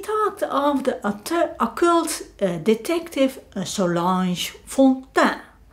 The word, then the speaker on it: Solange Fontaine: And he talked of the occult detective Solange Fontaine. She is French, so I'm pronouncing it in French.